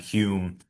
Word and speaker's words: Home: So that's why it looks like it's home, but it's pronounced Hume because he was from Scotland. And I guess the pronunciation conventions are a bit different over there.